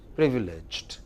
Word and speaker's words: privileged: next revealing privileged revelation don't make the second syllable longer it is just the first thing privileged privilege good position next